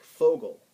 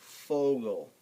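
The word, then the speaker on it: Vogel: now v v um V isn't pronounced V when you see a v word in German it's pronounced F like fogal f Fogo Fogo which is bird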